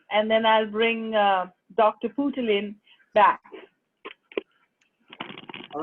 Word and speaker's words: Poothullil: Okay, so I'm going to give everyone, just the way it is written. It is phonetically correct. Poothullil or Poothullil.